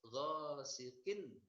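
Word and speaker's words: غَاسِقٍ: Ghasiqin, kin, ghasiqin, jangan dipanjangkan.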